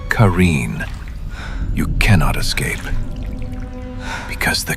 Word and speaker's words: Qareen: But the Qareen, pronounced Qareen, you cannot escape.